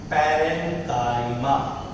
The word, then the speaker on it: parenchyma: It's pronounced as parenchyma.